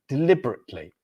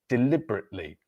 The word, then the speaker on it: deliberately: Now, if you look at the spelling of the word, it is deliberately, but in speaking, we drop the letter, so we have D-lib, but we drop that bit, the third E there, the third vowel, so it becomes deliberately.